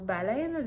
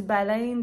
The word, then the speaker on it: baleine: Donc, des fois, je dis baleine, des fois, je dis baleine. Mais quand j'étais petite, je suis certaine que c'était baleine dans l'est du Québec. Dans l'ouest, c'est les diphtongues. La région de Montréal, par exemple, c'est des baleines. Baleine.